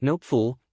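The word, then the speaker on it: Knoepfle: A&R Jennifer Nopeful, pronounced Nopeful, rhyming with hopeful, who joined the company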